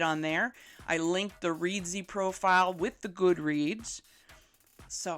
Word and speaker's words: Reedsy: free e-pub file creation tool and i found reedzy and that is spelled r-e-e-d-s-y so they have a free